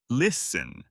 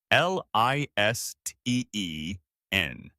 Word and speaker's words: listen: The word is listen. L I S T E N. The T is silent. You say listen.